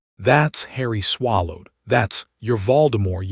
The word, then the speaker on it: Voldemort: That's your Voldemort. S. The captain's pronunciation was not quite right. Vow dumbort.